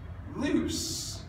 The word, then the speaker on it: loose: have double O here loose kind of rhymes with choose but not as well as lose this one is loose so don't be tricked